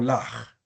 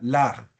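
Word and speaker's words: לָךְ: Le ja o laj. Y aquí está la transliteración. Le ja, que sería lo normal, y cuando tiene acento en pausa, laj.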